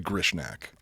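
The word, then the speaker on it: Grishnackh: No, it's actually Grishnak.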